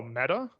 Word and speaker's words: Meta: i'm pronouncing this wrong is it metro is it meter what is it oh meta yeah i say method you say meta i would say meta yeah yeah because i